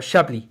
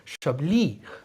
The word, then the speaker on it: Chablis: But so we have the William Fairfur Chablis, and this is Chablis. I didn't realise this, but the emphasis on the last part of Chablis, not on Chablis, but I mean, pronounce how you like.